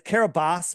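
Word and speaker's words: Kiribati: to the nation of kabati and it's Carabas but I'm G to call it kabati because that's how it's spelled and all the people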